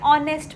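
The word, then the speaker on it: honest: नहीं लगाते, एन लगाते, क्योंकि एच हम कह सकते हैं साउंड साइलेंट है। जैसे कि ऑनर है ना, an honour, Eyre, our glass, then हम लोग बोल सकते हैं ऑनेस्ट मैन, है ना। तो एन ऑनेस्ट मैन, यहाँ पर एच साइलेंट बोल सकते हैं या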